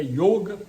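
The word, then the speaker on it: योग: Ali no comecinho está a palavra yoga escrita em sânscrito, a pronúncia eu pus o acento circunflexo, porque na verdade o certo é yoga, que eles falam.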